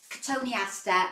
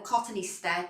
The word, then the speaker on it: cotoneaster: Now here I have a really lovely cotoneaster or cotoneaster, depending on which way you pronounce it.